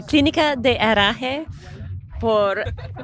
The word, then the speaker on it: Clinica de Herraje: Betsy Lorden, to pronounce it properly for us. It's the Clinica de Herraje de Puerto Vallarta.